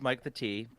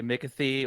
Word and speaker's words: Mike the T: My name is Mike the T. You might say Mickathy or whatever weird pronunciation you want to try. It's probably wrong.